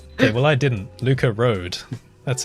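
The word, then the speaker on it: Rood: Luca Road. That's how you pronounce Road, it, right? yeah. Yeah. Luca Road, yeah. It's R-O-O-D, and I've always said rude in my videos.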